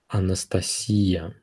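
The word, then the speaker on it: Анастасия: pronounced as Alec Alec Anastasia it's pronounced as Anastasia Anastasia Vladimir it's pronounced as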